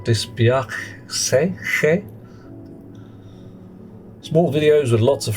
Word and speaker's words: dispiace: Dispiace is pronounced a little differently. The C is not mute. Dispiace.